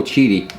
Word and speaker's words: Qidi: this machine is awesome it's a little cheaty that's how it's pronounced and what happened was